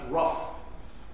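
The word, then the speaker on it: Roof: white man named Dylan looks like Ruth as you write it but the family name is pronounced Ruff Dylan Ruff entered Emanuel am Church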